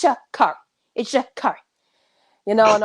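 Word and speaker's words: Sha'Carri: was like well i'm making debut honey it's shakari shakar okay i love her and then you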